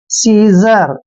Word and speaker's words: seizure: देखिए SEIZURE, एस का उच्चारण से करते हैं और EI को हम ई की मात्रा पढ़ते हैं। ZU का उच्चारण यहाँ पर जय करेंगे और RE को रे पढ़ते हैं।